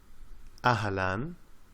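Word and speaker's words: أهلا: up of two words ahalan we write the letter alif and add in the hamza to show that it is pronounced ah then we have the letter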